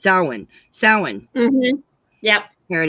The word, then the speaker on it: Samhain: I'm pronouncing it wrong. That's not how you pronounce it, Samhain. It's pronounced Samhain.